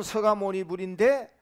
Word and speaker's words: 석가모니불: 자, 이렇게 소리는 서가모니불인데 적을 때는 이제 여기서 석가모니불 이렇게 이제 적습니다. 원래는 이제 샤카무니의 한문 발음이 석자를 이렇게 쓴 거죠. 그것을 우리가 소리 나는 데는 서가모니불 이렇게 합니다.